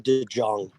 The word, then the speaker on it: DeJong: I feel like it's Paul DeJong.